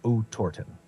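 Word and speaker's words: Otorten: began their Trek toward Orton Mountain pronounced roughly as OT torton this mountain was their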